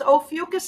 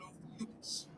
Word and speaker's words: Ophiuchus: So it's Ophiuchus is how I pronounce oh, it.